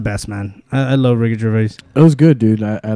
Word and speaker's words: Gervais: How do you pronounce it? Gervais? Yeah, Gervais. Gervais. I always said Gervais for some reason.